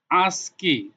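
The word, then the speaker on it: ASCII: আসকি এি আই আই আসকি এটার উচ্চারণ হচ্ছে আজক আমেরিকান স্ট্যান্ডার্ড কোড দেখেন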